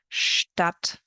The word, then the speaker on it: Stadt: The ST sounds like an SHT, st, and the SP sounds like an SHP, sp. Here are some examples. Stadt, Stopp, Apfelstrudel, Sport, Spanien, Beispiel.